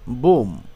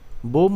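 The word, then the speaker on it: bomb: এর উচ্চারণ হয় না যেমন বি ও এমবি বোম এখানে এম এর পরের বি উচ্চারণ হয়নি বোম অর্থ বোমা বোমা বর্ষণ করা কোম কোম অর্থ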